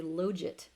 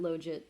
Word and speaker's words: logit: So this is, I pronounce it logit, but however you want to pronounce it.